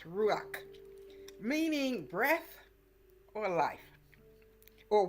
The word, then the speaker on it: ruach: and Christian biblical tradition is ruak r u a c h pronounced ruak meaning breath or life